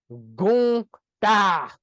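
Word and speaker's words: Gunther: Gunta.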